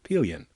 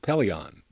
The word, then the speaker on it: Pillion: the recording in 894 pillion which in a later program i mispronounced peleon i didn't know how to pronounce it the operator told